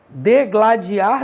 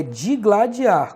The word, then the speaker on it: digladiar: se digladiaram no ringue degladiar não é degladiar Caraca Pestana todo mundo fala dele lá de ar mas não é é digladiar Cuidado então ortoépia ou